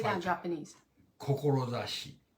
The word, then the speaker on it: Kokorozashi: Kokorozashi. Kokorozashi.